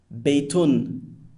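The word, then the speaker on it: بَيْتٌ: Now, the un sound at the end of the word is known as tanween and renders the word indefinite.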